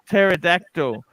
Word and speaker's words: pterodactyl: a Pentecostal you pterodactyl pterodactyl because the p is silent by the way bear